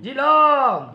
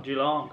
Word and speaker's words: Yiloong: Tu che sei cinese, come si pronuncia? Geelong. Geelong.